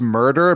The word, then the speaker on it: Murdre: yeah, his middle name is it's pronounced murder, but it's written Murdre.